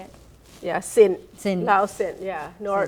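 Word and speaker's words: Sinh: Yeah, Sin.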